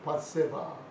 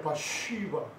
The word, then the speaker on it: 밧세바: 밧세바. 밧세바예요. 바쉬바. 참 희한해요. 영어로 bath, 목욕하다. bath, she, 그녀가 바. 우리 한국말로 하면 목욕하고 있는 여자를 눈에 본 거예요. 그 영어가 그렇게 돼 있어요. 히브리어 발음이 바쉬바라.